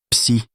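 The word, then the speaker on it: ψ: Se prononce psi.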